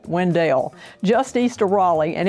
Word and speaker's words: Wendell: It's Wendell, pronounced not Window, Wendell.